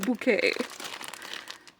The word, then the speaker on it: Bouquet: It's pronounced bucket. No, it's the other way around, isn't it? Bucket. No, it's pronounced Bouquet.